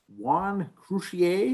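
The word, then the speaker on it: Juan Croucier: Juan Crucier, is that how you pronounce it?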